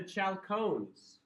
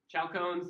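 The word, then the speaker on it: chalcogens: Group six is called the chaloneses. Good luck remembering or sorry I did I spelled it wrong. Chone is a compound. Chalkcoins. I was going to say good luck remembering that but I didn't have good luck remembering. Chalk cones is oxygen's family.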